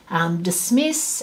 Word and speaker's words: dismiss: These ones are stressed at the beginning, so dismiss and what's that one? I can't remember what that one is. And expand and consult. So these ones, stressed at the end.